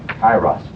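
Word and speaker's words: Kairos: Kyros. Okay. Can I spell that right?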